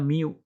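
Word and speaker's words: μ: seperti huruf M ya ini simbol dibacanya Miu ya begitu m nya Begini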